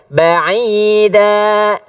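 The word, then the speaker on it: بعيدا: Ya, pakai ain. Coba a. Coba a. Ai. Ya, ba'ida.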